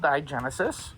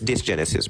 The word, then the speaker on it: dysgenesis: Gonadal digenesis It's dysgenesis, by the way.